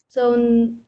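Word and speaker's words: 四: And then four is S. S, yes, just pay attention to the tone.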